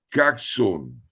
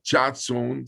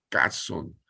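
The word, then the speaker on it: חזון: Chauson, la palabra me decía Lauro, el doctor Lauro Ayala, se pronuncia caxon. Aunque se escriba chatson, se produce caxon.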